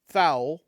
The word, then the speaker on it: Thoul: a fun one THU I always call it THU uh like ghoul but th but it could be thou admittedly and I don't